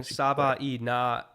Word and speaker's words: Savaiinea: Oh, Chad is saying Savaiinea. Savaiinea. So I missed a syllable in there.